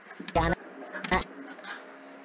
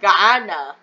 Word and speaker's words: Guyana: Rico, Colombia, Venezuela, Honduras, Guyana. It's pronounced Guyana, which makes strike 14.